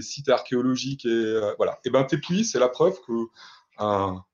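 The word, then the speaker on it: tepuy: Un T'épuis, qui s'écrit T-E-P-U-Y, c'est un terme de géographie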